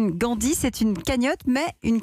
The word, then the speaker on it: Gandee: Parce que ça s'écrit G-A-N-D-E-E. Tout à fait, ça vient de Gandhi, bien sûr, un personnage mémorable c'est un clin d'œil donc au personnage. Tout à fait. Avec une écriture un peu différente.